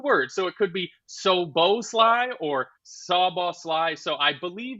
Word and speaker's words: Szoboszlai: But it's actually Szoboszlai, is it? So this is the Google that I saw. It says it's 3 syllables.